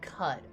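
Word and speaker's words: Qud: dope dope i do oh you pronounce it like cud oh okay gotcha gotcha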